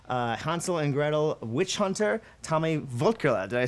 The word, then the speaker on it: Tommy Wirkola: of Hansel and Gretel Witch Hunter, Tommy Wirkola.